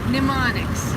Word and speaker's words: mnemonics: it are how do you say minemix m-n-e-m-o-n-i mnemonics which is the uh it means the way